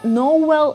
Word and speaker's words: Noel: ще звучати Ось так звучить як Ноель англійці часто вимовляють noell для балансу голосних та приголосних